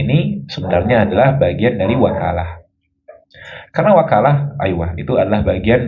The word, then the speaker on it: وكالة: Al-wakalah yajuzu bi fathil wawi wa kasriha. Boleh dibaca wakalah, boleh dibaca wikalah. Tapi wal fathu as-sah, fathah lebih fasih. Kita bacanya al-wakalah.